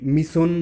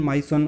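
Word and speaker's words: Mỹ Sơn: Now this UNESCO world heritage site जो माइसोन है, ये मिसोन माइसोन अलग अलग प्रोनाउंसिएशन है इसकी, ये वियतनाम के क्वांग नैम प्रोविंस में है, और ये माइसोन मिसन ये है वर्ल्ड हेरिटेज साइट।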